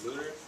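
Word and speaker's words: Luttrell: The book it's written by the retired Navy SEAL Marcus Luther. That's how you pronounce his last name.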